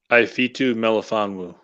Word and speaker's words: Melifonwu: Ifitu Melifonwu.